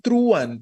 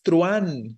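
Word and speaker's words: truhan: no se tilda vale entonces no es truan es truan la a es la que suena fuerte y por esa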